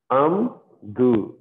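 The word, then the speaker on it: עמדו: Amdu. Amdu. So here this ayin doesn't have any sound.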